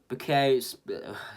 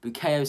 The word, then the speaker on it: Bukayo: And then started at left wing back was Bukayo. That's just not how you say his name, is it? Bukayo Saka, the golden boy of this club.